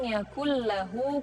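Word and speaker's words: يَكُن لَّهُ: Nah, nun tanwin bertemu dengan lam, kemudian ada tasydidnya, walam yakul lahu. Jadi bukan walam yakun lahu, tapi walam yakul lahu.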